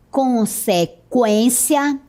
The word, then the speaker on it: consequência: Note que a pronúncia continua sendo a mesma, com o U.